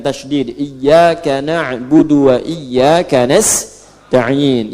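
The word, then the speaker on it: نستعين: iyaka na'budu wa iyaka nastain. Yang kedua itu nastain dibacanya menggunakan fathah ujungnya sukun. Jika ada yang baca menggunakan kasrah itu dari bani Tamim, bani Asad di antaranya.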